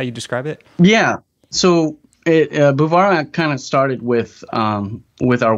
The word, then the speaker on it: Guevara: already told me, and I'm going to pronounce it wrong, but Guevara? It's Guevara.